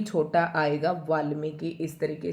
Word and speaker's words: वाल्मीकि: की छोटा आएगा वाल्मीकि इस तरीके से आपको दो बार लिखकर इसका प्रयास करें पर आप अभ्यास करें।